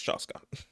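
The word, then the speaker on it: Chasca: years if you want chasa cha yeah CH that's wait is that how you say her name chasa wait I'll be back y'all see yes I got confirmation y'all yes it's shasa yeah also too there's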